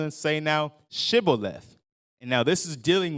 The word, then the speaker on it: Shibboleth: They said, look, say this word, which was Shibboleth. And the way they pronounced it, they said Sibboleth.